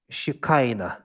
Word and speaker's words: shekinah: same uh base which is in english it's pronounced shikaina have you heard of that there is a term shekinah glory this is all the same word from